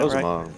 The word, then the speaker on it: Rosamond: Am I saying that Rosamond, right? yeah. Rosamond. Depends on if you can roll your R's or not.